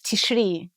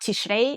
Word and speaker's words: Tishri: Then you need to postpone the beginning of the month of Tishri. Right. And the medieval pronunciation, by the way, is not Tishrei, is Tishri.